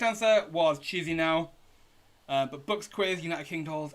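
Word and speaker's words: Chișinău: The correct answer was Chisinau.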